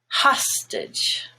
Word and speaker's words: hostage: and it's stressed now if you take the word hostage the stress is on ha stitch which then makes the a no longer gray but just schwa it's hostage band is black but